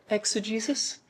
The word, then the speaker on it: exegesis: Which brings us back to what we talk about all the time with exegesis, eisegesis. That's right. Am I emphasizing the Jesus in the... I felt weird when I said it. Exegesis?